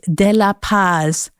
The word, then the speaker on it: De La Paz: So I stood up with my knees wobbling a little bit and said, "It's pronounced MariVi, and my last name is De La Paz, not just Paz."